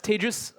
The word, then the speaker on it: Tejas: um who am I my name is tagis um that's pronounced like contagious um don't worry I'm